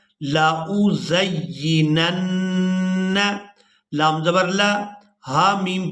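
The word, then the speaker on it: لَأُزَيِّنَنَّ: ہجے بھی کریں گے۔ لام زبر لا، حمزہ پیش او، لا او، زا یا زبر زی یا زیر ی، زی، نون نون زبر نن، نون زبر ن، لا او زینن، لام زبر لا، ہا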